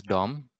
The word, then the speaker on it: DOM: script and to use dom in the javascript document object model that was a little bit challenging for me okay by the way it's pronounced as dom document object model okay awesome okay no